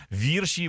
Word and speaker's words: вірші: нас вчили в школі запам'ятайте вірш бо гірше вірші бо гірше Ну якось так нас